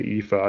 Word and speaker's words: IFA: I always said, like in my head, I said IFA, and then when I went to CES for the first time last year, someone said IFA, and I was like, oh, that's how you say it.